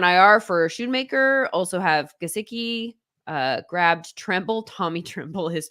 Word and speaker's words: Gesicki: So the emphasis was in the wrong syllable. So yeah. So for me, it's Gesicki.